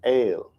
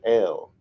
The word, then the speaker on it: El: Some write EIL because they pronounce it ale instead of L. Either way is fine.